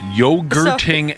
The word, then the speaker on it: yogurting: Stop yogurting animals. I don't know if I can even say it right. It's like yog and then hurt. Yes. Like yog hurting animals.